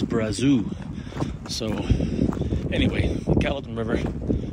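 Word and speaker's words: Brazeau: Again, I mispronounce things all the time, although, you know, when you're in, say, Jasper, I say Brazo, which is how it's pronounced in French, but the local pronunciation is Brazou.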